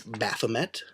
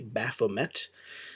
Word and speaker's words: Baphomet: in this issue it's Baphomet I did look it up to make sure I was pronouncing it correctly Baphomet I'm not sure exactly where the emphasis is put there but he's really cool